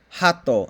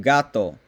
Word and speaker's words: gato: minus two points um if you mispronounce a consonant sound um that would be like saying hatto instead of gato that would be minus